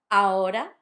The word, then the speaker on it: ahora: Notice the R because it's between two vowels. If it had double R, it would be ahora, which is a completely different thing. Again, notice the AH, it's ahora, not ahora.